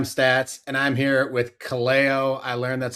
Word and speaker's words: Kaleo: It's Stats and I'm here with Cleo. I learned that's how you pronounce his name.